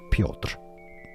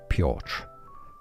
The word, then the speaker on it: Piotr: The Polish pronunciation is Piotr. Piotr. Piotr. Now in English, Piotr.